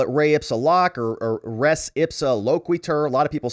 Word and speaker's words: res ipsa loquitur: There's a concept I was thinking about in the law called re ipsa loc.